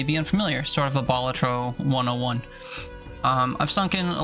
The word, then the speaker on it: Balatro: however you pronounce it I looked it up once and the internet told me batro is the preferred way so that's how I